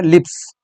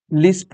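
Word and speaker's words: LISP: number चार number है लिप्स लिस्प है लिस लिस पिछली वीडियो में भी ये मिस इसका प्रोनाउंस हो गया था ठीक है और यहां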